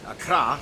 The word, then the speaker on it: Accra: course, the capital, Accra, Tamale. yes, that's how you pronounce it, Accra, located in the southeast along the coast.